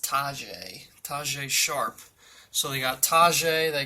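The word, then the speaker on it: Tajaé Sharpe: It's pronounced Tajay Sharp.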